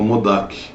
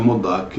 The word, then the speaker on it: Modak: Acho que esse Ganesh gostou bastante, chama Modak, né? Uns pronunciam Modak, já vi Modak com Uja, mas o que eu mais vejo é Modak, né? Com M-O-D-H-A-K, Modak, né?